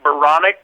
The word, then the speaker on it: Baranek: introduction and uh you you got my last name right veronic rhymes with bionic and that's how you